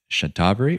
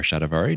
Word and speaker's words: shatavari: best, as AnnaBlanca mentioned, is shatavari or shatavari, depending on how you like to pronounce it.